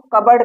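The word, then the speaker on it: cupboard: इसको कु कहते हैं इसको कबर्ड कहते हैं यहां पर प साइलेंट है इसका कोई रूल फॉलो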